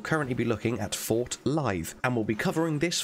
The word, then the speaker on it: Lythe: Sight of Grace, and assuming this fort is pronounced the same as Blythe, you'll currently be looking at Fort Lythe, and we'll be covering